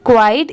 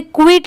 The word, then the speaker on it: quiet: क्वाइट, QUIET, क्वाइट। इसे क्विट नहीं पढ़ेंगे, बहुत सारे लोग इसे क्विट प्रोनाउंस करते हैं बट वो रॉन्ग होता है। इसे हम क्वाइट पढ़ेंगे, QUIET, क्वाइट।